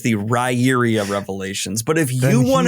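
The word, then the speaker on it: Riyria: I pronounce it Ryria.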